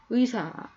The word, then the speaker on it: 의사: 예와 회의에 마르 자 의사 어투로 나 일부로 이제 의료진들이 많이 고생을 하고 있죠 자 그럴 때 어떻게 반응 할까요 의미 발음은 의사 의사 이렇게 마름 하 죠 자 부위가 이번엔 뒤에